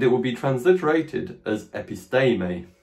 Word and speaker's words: episteme: Epistermer means knowledge, and it will be transliterated as episteme. This long E here following the Latin pronunciation should be pronounced A. So it's episteme.